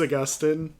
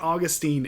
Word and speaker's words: Augustine: If anyone is wondering, it is Augustine. St. Augustine is a city in Florida, but it's a very different pronunciation.